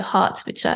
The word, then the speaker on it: Hertfordshire: So with, you say it like an A, so Hertfordshire.